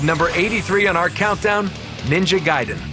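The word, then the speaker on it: Ninja Gaiden: be pronouncing it WR I thought it was Ninja gayon but ninja giden it's like one of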